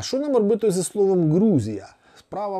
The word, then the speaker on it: Грузія: якщо це правда то вимовляти слово Грузія Чи як Як я наприклад звик грузини Грузія на український фрекативний манер буде неправильно тому ми мусимо перевчатися і казати на них Грузія та грузини От і те саме